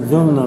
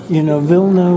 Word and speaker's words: Vilna: I still call it Vilna because that's the Russian Jewish pronunciation.